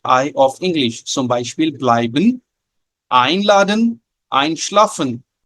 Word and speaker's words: bleiben: Zum Beispiel bleiben, einladen, einschlafen. If you say blieben, einladen, einschlafen, so this is wrong pronunciation.